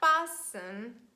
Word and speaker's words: fasten: For example, when it stands between letter S and it's followed by EN. And we have this combination STEN, and T is silent, and we say listen. So listen to me and repeat after me. Fasten, moisten.